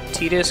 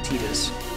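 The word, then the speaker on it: Tidus: Titus's name, T-I-D-U-S, I guess technically is supposed to be pronounced Titus, the way it's currently spelled. I strongly disagree with that pronunciation.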